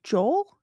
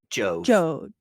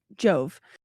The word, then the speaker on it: Jove: I'm going to then ask, would you say his name was Joel? No, Jove. Jove.